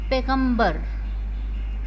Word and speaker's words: پیغمبر: ہم سیکھیں گے بیٹا۔ پیغمبر، پیغمبر، پے زیر بڑیے پے، غین زیر میم غم، بے رے بر، پیغمبر، پیغمبر۔ کیا بنا بیٹا؟